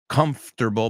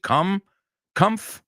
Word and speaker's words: comfortable: I know you know the word comfortable. Vamos a pronunciar esa juntos. Comfortable. Vamos a verlo así. Comf, porque realmente es comf. Comfortable. Comfortable. Comfortable. Say it with me. It's 3 syllables.